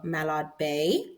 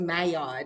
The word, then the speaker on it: Mallard Bay: Logan the co-founder of Malad Bay I did pronounce that right right Malad Bay yes okay great I didn't know if it was mayard because sometimes the Double L is a y a little conf okay